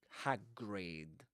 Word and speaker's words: Hagrid: will say but hrid hagrid you don't smile that much when you say hagrid you know the lips are a bit neutral rather uh let me check something guys just in case.